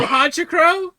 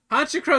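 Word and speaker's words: Honchkrow: So, hotrow. Honchro is delicious, right? I don't know why you're putting an extra syllable in there.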